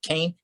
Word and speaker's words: Keane: i'll never forget it it's spelled keane but he pronounced it kane k-e-a-n-e michael keane i